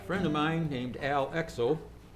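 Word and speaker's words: Exoo: of mine named al exo that's e-x-o-o but being dutch double o's get pronounced oh um he's not dutch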